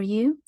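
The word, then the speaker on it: ё: that I have for you yo as in the word yoke I hope the image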